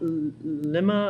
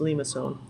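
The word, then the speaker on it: limaçon: to say a lot lemma I don't know what how people pronounce all sorts of different ways but it's actually we must so leave and so so don't this one's pronounced Lima sewn and of course roses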